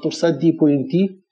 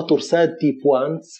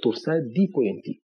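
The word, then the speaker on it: torsades de pointes: في ناس ينطقوها تورساد دي بوانس، في ناس ينطقوها تورساد دي بوا زي الفرنسويين كده، انما بقول لك الاستاذ الانجليزي ده انا سمعتها شخصيا منه كده تورساد دي بوينت تي.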